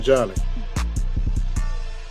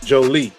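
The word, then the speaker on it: Joly: Justin uh Justin Jolly. Jolie, I should I'm sorry, brother. Justin Jolie, that's how you pronounce his name.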